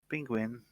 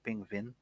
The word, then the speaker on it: Pingvin: Penguin, or sorry, Pingvin. There you go. I keep saying it wrong sometimes.